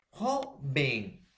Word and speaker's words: joven: Por ejemplo, profesor, tenemos joven. Ahora, profesor, joven. Entonces, acá está, profesor. Joven. Lleva la mayor fuerza de voz en la penúltima sílaba.